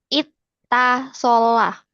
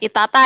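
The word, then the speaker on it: اتّصل: Ittasola. Bukan, Ya, tanya dua, yang satu di sukun, yang satu di fathah. Jadi ya, pengucapan tanya nggak ya, dua kali. Nah, bukan itata ya. Itta.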